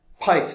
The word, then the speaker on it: Pyth: pyth Network or pith Network I guess it depends on how you want to pronounce it um this is a